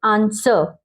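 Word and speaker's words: answer: एस के बाद अगर डब्ल्यू आ जाए जैसे आंसर, आंसर, ठीक है, हमने डब्ल्यू का साउंड दिया, डब्ल्यू का साउंड क्या होता है वो या फिर वो।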